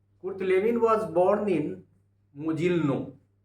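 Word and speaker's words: Mogilno: Kurt Lewin was born in मोजिल्नो. इसका spelling MOGLNO, मोजिल्नो पढ़ सकते हैं.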